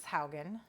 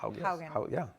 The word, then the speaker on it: Haugen: Our first topic today is Frances Haugen. Yes, well said. Did I say it right? Properly spoken, yes. Dude, I think you're the one that taught me it's like house. Haugen.